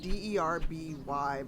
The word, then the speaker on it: Derby: Sheen was pretty funny wait so it's spelled D e r b y but it was pronounced Derby it's like Clark as well we SP like you'd say clerk but we say Clark it's spell that way oh why I've heard